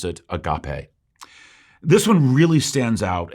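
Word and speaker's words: ἀγάπη: the final word for love is most commonly pronounced agape uh though it can also be read as a gapi in the original greek most in the west pronounce it agape this one really stands out and is the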